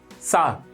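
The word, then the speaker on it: sour: अगला वर्ड है सार। इसके अंदर आर साइलेंट होता है, तो पूरा ऐसे ही पढ़ो जैसे पढ़ने वाले हो आप सावर, लेकिन उसका आर हटा दो, तो क्या पढ़ा जाएगा? सार।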